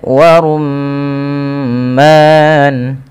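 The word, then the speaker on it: وَرُمَّانٌ: Di sini ada bacaan gunnah, yaitu adanya huruf mim yang berharakat tasydid. Apabila ada mim berharakat tasydid, bisa dipastikan dia bacaan gunnah. Cara membacanya adalah menahan suara bunyi gunnahnya atau suara bunyi nya sepanjang 2 harakat.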